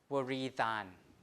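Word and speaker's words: wrītan: So you have waritan, like that. So W is pronounced, so waritan, like that. Waritan. In modern English, we don't pronounce the W before R, right? But here you do.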